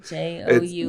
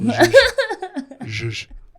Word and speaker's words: zhuzh: Jous? No, it's ZH. ZHUZH. I'm thinking about Jew. Zhush. It's a Yiddish word, Jewish word.